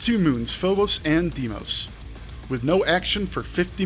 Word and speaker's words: Deimos: have checked that ahead of time how to pronounce demos and it's two moons phobos and deimos with no action for 50 million miles your